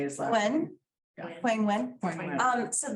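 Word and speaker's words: Nguyen: Wen, Yeah.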